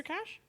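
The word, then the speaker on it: cache: um a an uh how do you say this word literally spelled k guarding a cash or cash yeah like cash like the like the computer cash I don't know c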